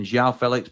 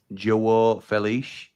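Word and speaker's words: João Félix: Um, Mory says, "And Xiao Felix, but it's pronounced Jo Felich."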